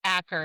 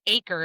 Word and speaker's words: Acker: So how do we feel about Acker? You said Acre. Is that how they pronounce it in the audio? Acre. Mm-hmm. Oh, And, no, I don't like that. It's Acker. right?